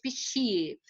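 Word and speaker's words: bixie: Escreve com B, mas pronuncia pichie.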